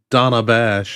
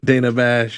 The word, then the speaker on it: Dana Bash: got good old Donna Donna bash as uh camela since she hat I thought it was D pronounce Dana Dana Dana is what she said Dana Dana Bash you know you know